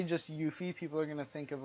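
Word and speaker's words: Euphie: Brotherhood alright yeah and that's spelled e you pH ie 23 like euphoria in that sense yeah I feel like if you say just you fee people are gonna think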